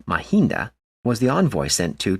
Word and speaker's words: Mahinda: to the Western World moreover Mahendra which in Nepali language is pronounced mahinda was the envoy sent